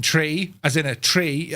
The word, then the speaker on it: tree: zero one two three is the Irish way of saying tree as in a tree